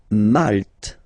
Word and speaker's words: Malte: Malte. Same thing here, you don't insist on the final E.